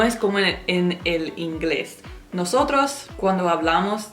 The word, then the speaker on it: nosotros: Cuando están T y R juntas en una palabra en español, se pronuncia cada letra separada. Nosotros en inglés decimos chur